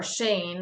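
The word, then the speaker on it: שן: teeth which we which the word for teeth is shin um or Shane actually is the way you pronounce it but knock out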